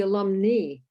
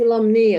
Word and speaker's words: alumnae: and English, and because if you pronounce alumni with the I, then you better maybe not try to make the feminine part be alumni, because if you have it in Latin, that's what AE is pronounced in Latin.